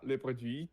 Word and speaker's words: produits: Recevoir les produits très vite à la maison. Yeah, les produits without TS. Les produits.